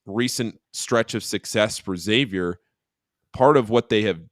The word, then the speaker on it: Xavier: Steve, I apologize, and all Xavier fans, for the mispronunciation of Xavier, not X Xavier. Xavier.